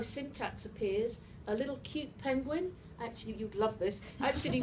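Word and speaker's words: Pynguin: to say was penguin penguin is a little project it's spelt p y n g u i n it's python based and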